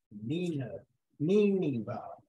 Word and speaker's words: Nineveh: I went to the pronunciation guide. Nineveh. Is how you say Nineveh.